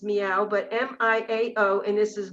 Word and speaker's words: Miao: this and it's called mistress m-i-a-o which we pronounce is meow but m-i-a-o and this